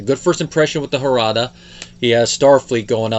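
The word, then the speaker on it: Jarada: never see called the harada and in case anyone's wondering that species name is spelled with a j but it's pronounced in the spanish fashion the j for h sound and the harada are really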